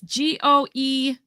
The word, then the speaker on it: Goebel: It's Goebel.